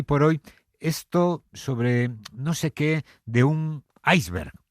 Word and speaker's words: iceberg: tipo de prevención y el diccionario panhispánico de dudas, además, dice que en el español de aquí lo recomendable es pronunciarla conforme a nuestra fonética, aunque en el español que se habla en América, está extendida la otra forma, la pronunciación inglesa que es iceberg.